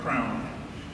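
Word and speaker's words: CRANN: Actually, you should pronounce it properly, Crown.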